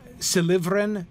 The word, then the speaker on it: Silivren: Silivren, maybe you couldn't get, you know, maybe somebody would say, you know, Silivren or something like that. You might put the stress on the wrong syllable on that one if you didn't know better.